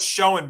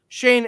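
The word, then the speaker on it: Schoen: Shane and is it Shane or is it pronounced? It's Shane. Yep. Shane. Joe Shane. I first saw it. I thought Showing because I know somebody.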